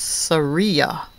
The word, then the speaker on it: Saria: Oh, that reminds me of my cousin's name, Sarita, but it's Saria. Sounds like Maria, she says.